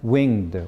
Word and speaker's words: winged: At my back, I always hear time's winged, wing, 2 syllable, winged, right? Pronounced, right?